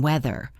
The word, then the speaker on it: weather: Listen to the th sound in weather.